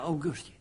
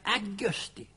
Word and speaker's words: augusti: De kan inte säga Augusti. De kan inte säga restaurang. De säger Augusti och restaurang.